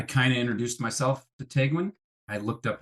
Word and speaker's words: Tegwen: I kind of introduced myself to Tegwen. I looked up how to pronounce her name properly, which it sounds like You got looks. It sounds like it looks.